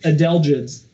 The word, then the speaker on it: adelgids: We mourn the ones that did take hold, like the, help me pronounce this word, Tony, the hemlock woolly... Adelgids.